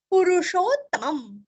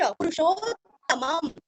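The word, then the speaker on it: पुरुषोत्तमम्: पुरुषोत्तमम, पूरस्व षटकार का श, पुरुषोत्तमम, दो त का उच्चारण भी अच्छे से करना है और लास्ट में आधम, पुरुषोत्तमम।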